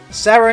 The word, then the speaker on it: Sarin: Sarin is pronounced differently to Serena.